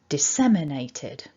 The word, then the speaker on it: disseminated: got here is that we've got one main stress and it's on the second syllable.